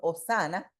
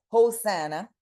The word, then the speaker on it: Hosanna: Que nosotros la pronunciamos en español Hosana, en inglés se pronuncia Hosanna, es del latín Hosana y del griego Hosanna.